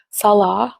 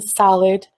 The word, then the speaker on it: Salah: They mispronounce my Syrian husband's name, Salah, which means prayer in Islam, by the way. They call him Salad right in her thumbnails.